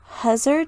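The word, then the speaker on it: hussar: and sebastian are wearing i'm gonna butcher this pronunciation too but huzzer jackets h-u-s-s-a-r jackets pronunciations are not my strong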